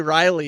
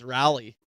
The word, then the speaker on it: Raleigh: People get mad at me on how I say Raleigh, and Riley. You say Riley and it's Raleigh.